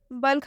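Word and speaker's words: bulk: यहाँ पर देखिए बल्क। बल्क हम पढ़ते हैं ब आधा ल और ग। ठीक है, यहाँ पर ये जो एल है इसका उच्चारण ल से हुआ है, आधा ल से।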